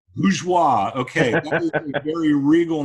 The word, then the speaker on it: Bourgeois: because I screwed up because it's French Bush watch pronounced just like it's spelled lose wha okay that's a very